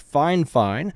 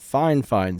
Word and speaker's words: Fifine: to the fine fine and yes it is pronounced fine fine I know it's spelled f fine but they pronounce it fine fine so this is a test of a comparison